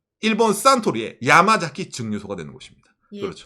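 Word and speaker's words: サントリー: 가운데 있는게 태양처럼 보이죠 태양이 영어로 뭡니까 선 이잖아요 선을 일본에서는 산이라고 발음합니다 상 그리고 사장님 이름이 토리이 신지라 있잖아요 선 토리이 신지로 선토리 산토리 그 그렇죠 아까 담로 유명한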